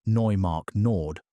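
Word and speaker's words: Neumark-Nord: At Neumark Nord, pronounced Neumark Nord, also in Germany, archaeologists have documented the butchered remains of roughly 70 straight-tusked elephants.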